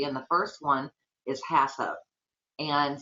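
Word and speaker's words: HACCP: one is hasso and some people chop that and and don't say it correctly but if you're not going to say the entire word which the entire sentence it's Hazard analysis critical control Point um it's shortened to hup for ease because it would get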